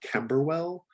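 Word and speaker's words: Camberwell: she's from east london rob catch me on my pronunciation kember well they're right yep perfect she's she's sarah tanner from camerawell east london uh she's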